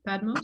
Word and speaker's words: Padmos: today with padmos is that the correct pronunciation padmos yes yeah yeah that works just fine okay